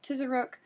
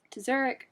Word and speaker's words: Tizheruk: this week a um there's a couple different pronunciations i found i heard tizzarook i heard to zurich and a few more i'm gonna work with uh tisaruk this week but if i'm wrong